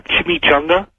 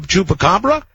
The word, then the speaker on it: chupacabra: I like to talk about that uh Chim Chunga. Chup. You mean Chupa? Chup chupacabra.